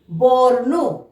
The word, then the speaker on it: বর্ণ: গ, তয়ের মাথায় রেপ, তাহলে তয়ের আগে আমরা র উচ্চারণ করব। গর্ত, গর্ত। একইভাবে তালব্যের স, তয় রেপ, শর্ত, শর্ত। ব, মূর্ধন্য নয়ের রেপ, বর্ণ, বর্ণ।